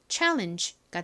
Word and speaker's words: challenge: 실제 미국식 원어 발음으로는이 G가 이렇게 끝부분에 오면 바람 빠지는 소리가 나요. 이렇게요. 자,이 단어를 원어 발음으로 읽어 보면 challenge가 됩니다.